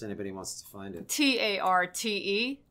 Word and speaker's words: tarte: wants to find it t-a-r-t-e tart the french have a lot of letters at the ends of words that are not pronounced you have version one